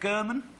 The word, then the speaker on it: German: your name is Dave German Dave German that's spelled with a u not an O that's right okay everyone you ever meet calls you Dave Gorman by accident they do